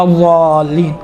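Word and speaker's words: الضالين: ضین آتا ہے، ولا الضالین، ضا نہیں، ولا یہ آپ تصور کریں دال جیسا ادا ہو رہا ہے، دیکھیں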